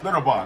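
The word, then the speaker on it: Schlitterbahn: Slaughterbarn, that's how you say it.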